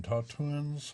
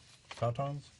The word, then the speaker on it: tauntaun: Parallel between Tauntauns and Providence. Tautons. I think that's how it's pronounced. That's right.